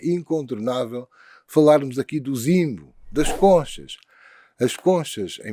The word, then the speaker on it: nzimbu: kikongo e e quimbundo em zimbo ou zimbo ou Jimbo que H quem pronuncie Jimbo zimbo para a história do